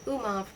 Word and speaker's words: Umov: the once famous revolutionary Umov, rhymes with Zumov, and a German lady from Riga.